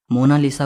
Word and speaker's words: Mona Lisa: सही स्पेलिंग यह है कोई इसे मोनालिसा कहता है तो कोई मोनालिसा कहता है लेकिन इटालियन में इसकी करेक्ट प्रनंसीएशन है मोना लिसा इसका मतलब होता है